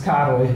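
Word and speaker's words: Károly: is pronounced as Caro if you imagine this as like an English word then you forget the L and you just pronounce it like that so it's Caro okay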